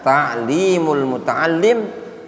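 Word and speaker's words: Ta'limul Muta'allim: Jadi bacanya taklimul mutaalim thiqat ta'allum.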